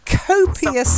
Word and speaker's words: copious: of something you have copious amounts okay copious yes not cool Co that's it copious well done and the